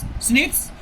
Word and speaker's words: SNPs: जो प्रोनाउंस है एक SNPs स्निट्स और अकर होता है ह्यूमन बीइंग के अंदर।